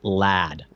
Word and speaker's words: Llahd: It's Lad. It's literally Lad. Oh my God! Wow. Like a young lad. But it's spelled LLAHD.